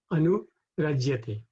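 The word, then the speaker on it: अनुरज्यते: So if we pronounce this separately, we would be prahishyati, prahishvati, and Anurajyate. But when we rhyme it, then the Y and the A go together, and then it becomes prahishatya nurajyate, like that.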